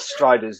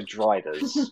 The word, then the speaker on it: Drider: They're not Striders, they're Driders.